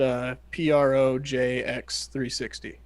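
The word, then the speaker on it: ProjX360: So so then we started looking at Projects 360, and so that's pronounced Projx 360 and spelled out, and they're built in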